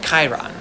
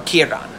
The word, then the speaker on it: Chiron: there's this one centaur named chiron or kiran depending how you want to pronounce it he actually has a